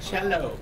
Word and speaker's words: cello: the cello everyone say cello cello it rhymes with Jello and there's always room